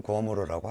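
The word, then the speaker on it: 郭沫若: 고사변에서 그 광마략, 뭐 우리 현대 중국어 발음으로는 고어모로라고 하죠.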